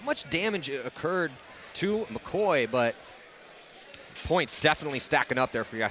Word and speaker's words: McAvoy: And Kevin, I checked with Jack's Corner. It is McCoy. McCoy.